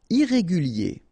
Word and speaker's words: Irrégulier: Irrégulier. Okay, remember, I-E-R at the end of your word here, it will be ye, okay? Irrégulier.